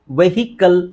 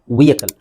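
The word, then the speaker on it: vehicle: ul bowl okay now ಇದನ್ನ ಬಹಳ ಜನ ನಾವು ವೆಹಿಕಲ್ ಅಂತ ಹೇಳ್ತೀವಿ ವೆಹಿಕಲ್ ಆಕ್ಚುಲಿ ಅದರ ಸರಿಯಾದ ಉಚ್ಚಾರಣೆ ನೋಡಿ ವಿಯ ಕಲ್ ವಿಕಲ್ ಇದು ನೀವು ಐಪಿಎ ಕರೆಕ್ಟಆಗಿ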